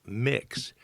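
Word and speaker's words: Mx: well students call them Ms Oaks pronounced mix mix Oaks the term has been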